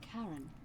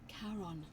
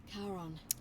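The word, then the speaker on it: Charon: It's just as you described it, only your pronunciation is a little off. The name you heard wasn't Karen. It was C H A R O N. As in Karon, the man of the dead. Karon, who in exchange for the right coin, helps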